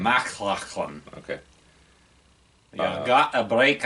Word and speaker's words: MacLachlan: Yeah, the guy from McLachlan. Dune. Yeah, I can never pronounce his last name. MacLachlan.